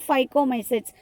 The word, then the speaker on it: Phycomycetes: The next spelling PHY, phi, CO, co, MY, my, CETES, sets. Phycomycetes. Phycomycetes.